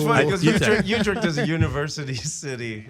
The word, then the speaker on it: Utrecht: Utrecht. I think I'm saying it right. Utrecht, Rotterdam.